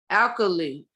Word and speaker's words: alkali: that's acid balance shampoo alkaline short for alkaline alkaline alkali that's how it's pronounced it's a chemical compound